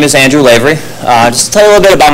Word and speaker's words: Lavery: Ivy slavery excuse me Lavery common mispronunciation good evening everyone my name is Andrew Lavery just a little bit